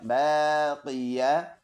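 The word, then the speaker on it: باقية: या ज़बर या, बाक़िया। ता टू ज़ेर तिन, बाक़ियतिन। इसका स्टॉप है बाक़िया। स्टॉप में यह ताहा पे कन्वर्ट कर देंगे, दोनों ज़ेर साइलेंट, बाक़िया बन जाएगा।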